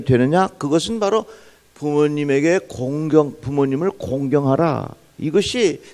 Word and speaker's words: 공경하라: 이 발음 잘해야 됩니다. 공격하면 안 되는 겁니다. 부모님을 어떻게? 공경하라. 또 발음 잘해야 돼요. 부모님을 곤경에 처하게 하면 안 되는 거예요.